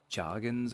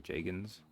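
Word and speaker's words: Jagens: Because, like, those Joggins are kind of, or Jagins, how it's meant to be pronounced, kind of bad regardless.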